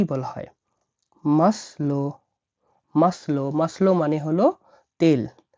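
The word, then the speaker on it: масло: সমৃদ্ধ হল তেল তেলকে রাসায়নে কি বলা হয় মাসলো মাসলো মাসলো মানে হল তেল মাসলো মানে মানে তেল।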